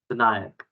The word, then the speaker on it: Vinayak: Yeah, and Vinayak, what's the correct pronunciation of your name, please? Vinayak.